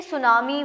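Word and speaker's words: tsunami: देखिए जो सादा अल्फाज़ तो ये है कि सुनामी में अक्सर लोग गलती कर जाते हैं कि एस से बोल देते हैं। एस तो है नहीं टी है स्टार्टिंग और टी साइलेंट होता है और सुनामी ये सबसे बेसिक मैंने बता दिया सादा अल्फाज़ में।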